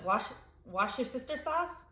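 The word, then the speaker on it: Worcestershire: Someone told me to pronounce it wash your sister sauce. I something like that.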